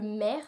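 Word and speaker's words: Mehr: et c'est un matc le maire donc m e h r je pense que ça se prononce comme ça et donc il est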